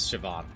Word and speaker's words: Siobhan: Um, there must be multiple pronunciations of it. Uh, because uh, one of the dimension 20 players is Siobhan. No B sound.